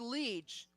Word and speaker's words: Leitch: And it's pronounced Leech, but God damn it, Hunter.